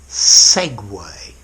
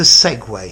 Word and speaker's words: segue: ation again to Segway if you look at the letters it looks like you should say seg but to Segway sounds exactly like this machine with two wheels that you stand on okay to Segway originates